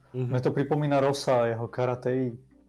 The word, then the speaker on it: karate: Vieš, ako on vyslovuje voodoo, voodoo, mne to pripomína Rosa, jeho karatei. On to vyslovoval karatei, nie karate.